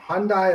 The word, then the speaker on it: Hyundai: Hyundai rhymes with Sunday.